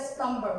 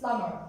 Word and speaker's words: plumber: boom tom is you we always call it a slumber it's not it's plumber b is silent right because m is